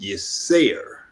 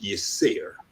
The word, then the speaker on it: Yirser: pronounced Yisser. Yes, Okay. Sarah. Okay. Yeah, Okay. and so people confuse it. They think it's the Arabic or Hebrew, Hebraic pronunciation of a word, but it's actually the Kemetic pronunciation.